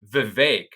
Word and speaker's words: Vivek: vet or I'm sorry Vivek it's like cake the fake let's think uh the